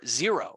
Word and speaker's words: Xero: application which would either be QuickBooks online or xero which is spelled x-e-r-o we'll be doing quite a bit